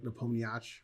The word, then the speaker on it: Nepomniachtchi: I think you don't pronounce the I at the end. You're supposed to say like Nepomniachtchi.